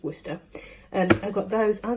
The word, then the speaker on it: Worcester: pronounce it whether we lose Worcester you know woofster sheesh our studies Worcester give it I live not far from there so it's true it's Worcester and I've got those I'm gonna make him